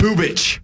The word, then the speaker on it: Bubic: Bubich.